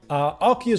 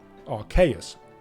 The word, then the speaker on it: Arceus: nobody says that, but it's also derived from the word Deus, so I pronounce it as Arceus, or Arceus.